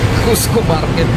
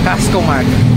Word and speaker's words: Casco Market: So mali pala yung pagkaka pronounce ko kanina na which is Cusco Market. So sorry. It's Casco Market.